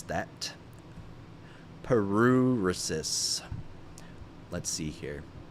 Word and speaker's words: paruresis: Paruresis. Let's see here. Pronunciation. Periuresis.